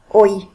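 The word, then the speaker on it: hoy: so first one today oi remember h is silent in spanish aura tomorrow already yeah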